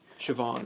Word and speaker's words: Siobhan: Siobhan, that's her name. It's spelled really weird. That's how you say it, though.